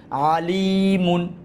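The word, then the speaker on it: عَلِيمٌ: ইফটান, মিম দুই পেশ মুন, এটা তানবিন তাড়াতাড়ি, আলিমুন, কি হবে?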